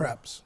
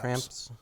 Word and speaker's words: Kreps: Kreps. It's Kreps. Kreps. Kreps. It's phonetically correct.